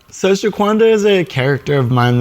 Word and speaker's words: Shaquanda: So the name of your product is Shaquanda, right? Yes. Did I pronounce that correctly? That is correct, yes. So who is Shaquanda? So Shaquanda is a character of mine that I developed